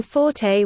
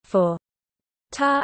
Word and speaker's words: forte: Their recommended pronunciation, fort, however, does not exactly reflect French either. The French would write the word le fort and would rhyme it with English for French doesn't pronounce the final T.